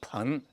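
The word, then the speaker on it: 盆: you properly this time bone means pot a pun in Chinese pun not bong it's a pun and that's Sai right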